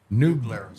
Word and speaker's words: New Glarus: The one ahead of it, and I say the name wrong every time. It's New what, Smethwick? New Glarus.